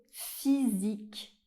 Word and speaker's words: physique: Et enfin, la lettre I et la lettre Y font le son /i/. C'est un i assez long, le même i qu'on retrouve dans"cheese" en anglais par exemple. On va le retrouver dans des mots comme Paris ou bien un lycée. On peut même avoir les deux dans le même mot. Par exemple, avec le mot physique.